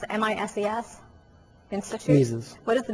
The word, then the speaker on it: Mises: What is the, I don't know how to pronounce it, MISES Institute?